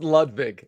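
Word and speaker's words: Ludvig: It's pronounced Ludwig.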